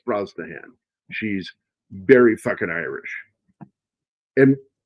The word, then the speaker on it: Brosnahan: A lot of people, they look at her name and they don't know how to pronounce that name. It's Brosnahan.